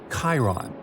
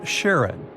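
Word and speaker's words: Charon: And finally, while standing on Pluto, you would see its five moons, Stixs, Nyx, Keraros, Hydra, and the most mysterious one, Chiron, also pronounced Sharon.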